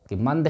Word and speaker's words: मंद: यहाँ पर देखिए, ये मंद शब्द लिखा हुआ है, तो बिंदु के बाद वाला वर्ण देखिएगा दा है। दा किस वर्ग का है?